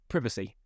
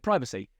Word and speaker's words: privacy: do a his about privacy and in in other countries they call it privacy so people comment ACC that yeah exactly that yeah uh yeah so people will privacy it's not privacy it's privacy or you know whatever